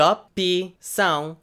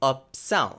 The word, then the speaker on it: opção: De opção are 3 syllables. However, saying it in a somewhat more natural register would be de opção, also 3 syllables.